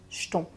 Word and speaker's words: jetons: là avoir les jetons qu'on va prononcer comme j'ai les jetons il a les jetons un peu comme ch cheton c'est la même chose